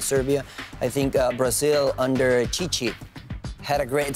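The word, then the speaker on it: Tite: I think Brazil under Chichi had a great spell during the qualifiers. Spelled with two T's, but we're going to pronounce it Chichi.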